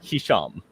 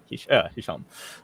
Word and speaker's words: Hisham: Okay, according to his pronunciation, it's Hisham. Yeah. Hisham.